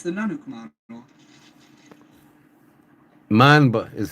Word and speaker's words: Mamba: Mamba is how you pronounce it.